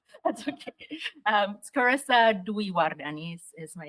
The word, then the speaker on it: Carissa Dwiwardani: how to say my name that's okay um scissa dardan is my name but um my my talk